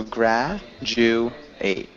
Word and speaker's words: graduate: evaluation and graduate graduate good it's more like a jew so grah jew ate graduate gra yeah graduate and